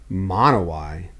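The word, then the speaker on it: Monowi: northeast corner of the state how do you spell it it's m-o-n-o-w-i mono y yep whoa four roads good everyone google monoi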